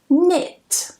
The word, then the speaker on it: knit: Knit. And yes, this is pronounced the same as knit.